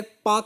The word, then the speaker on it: Palk: तो एक पाक स्ट्रेट है भाई, ये पाकिस्तान वाला नहीं है अभी, PALK, बल्कि हम प्रोनाउंसिएशन जो है पाक करते हैं।